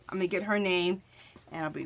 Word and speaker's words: Niamh: I'm going to get her name, and I'll be right back. Okay, you guys. Her name is Name Bailey. So she's spelling it Niamh, and then her last name is spelled Baly.